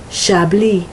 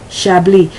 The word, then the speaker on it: Chablis: They do not realize that that word, such as Chablis, it's not Chablis, it's Chablis, is pronounced with more of the SH sound. So let me give you some of these words, and then you'll see. Chablis.